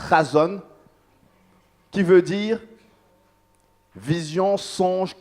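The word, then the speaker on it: חזון: On a vu que le terme révélation voulait dire chazon, ça se prononce chazon, qui veut dire vision, songe, communication divine, révélation.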